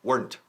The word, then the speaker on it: weren't: No decimos en inglés weren't, por favor. Una sílaba, weren't.